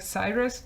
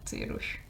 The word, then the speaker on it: Cyrus: His name is Cyrus, and maybe you should want to pronounce it like Cyrus, but I just really like pronouncing it Cyrus, and so he's Cyrus.